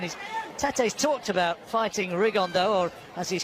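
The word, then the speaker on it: Rigondeaux: three weeks and he's Tate's talked about fighting rigondo or as he's correctly pronounced with the uh Spanish accent rig on Dao and look two absolute Geniuses but it could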